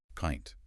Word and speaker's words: pint: I pint pint. It rhymes with giant or client. My jaw drops significantly.